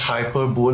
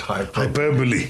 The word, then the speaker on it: hyperbole: that's right not hyper bowl but hyper hyperbole.